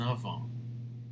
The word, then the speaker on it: ans: The answer is, I have 19 ans. S will never be pronounced.